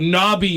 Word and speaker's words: knobby: I don't think well apparently the difference is the the silent k right cuz this this is n o BBY y whereas like if you said I got knobby knees that's k n